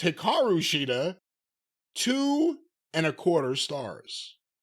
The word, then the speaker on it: Hikaru Shida: Championship from Hikaru shida that's Hikaru sheida or as her name is pronounced Hikaru shida two and a quarter